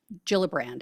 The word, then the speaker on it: Gillibrand: guys saw this but Senator Kirsten g gilbran gillibrand I think it's pronounced um she said quote I thought it